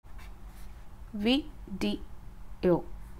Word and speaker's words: video: இந்த வேர்ட் நீங்கள் எப்படி ப்ரொனவுன்ஸ் பண்ணுவீங்க? விடியோ, விடியோ.